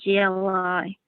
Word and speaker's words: gli: G-L-I.